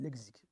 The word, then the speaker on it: lexique: Apparemment, on ne dit pas lexique, on dit lexique. Apparemment. Quand le X est entre deux voyelles, il se prononce XE. Exercice, pas exercice. Bref.